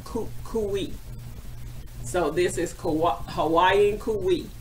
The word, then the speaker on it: Kukui: pronounced the word for me and it's actually pronounced Kukui so this is kawaii Kui and this is